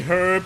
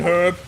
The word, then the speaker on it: herb: and that's a verb a herb or an herb and ender of nut and herb silent h wishes your dum dum